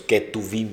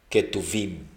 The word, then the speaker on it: Ketuvim: Nevi'im; y los escritos, Ketuvim, con K de kilo y V de vaca, Ketuvim.